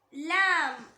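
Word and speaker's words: لام: Next letter லாம் லாம். இத நாக்கோட நுனி இருக்குல்ல, அந்த நுனியோட ரைட் இல்ல லெஃப்ட் இதுல ஏதாவது ஒரு சைடு மேல் பற்களோட ஈருக்கு கொஞ்சம் உள்ள இருந்து உச்சரிக்கணும்.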